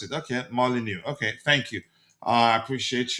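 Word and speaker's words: Molyneux: Uh, Malinu. Okay. Uh, that's how to pronounce it. Okay. Molyneu.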